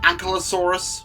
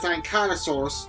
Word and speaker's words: Ankylosaurus: I know many folks will pronounce it as Ankylosaurus, but I say it as Ankylosaurus because that's how Sir Kenneth Branagh pronounced it in the original Walking with Dinosaurs. I'm not a fan of